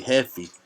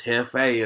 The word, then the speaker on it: Jefe: A lot of people, when they trying to say my name, they say Heffy or Jeffy. Yeah. It's Hefe in Spanish for boss, you know what I'm saying?